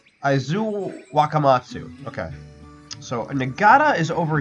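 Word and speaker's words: Aizu-Wakamatsu: How is it pronounced? Aizu Wakamatsu.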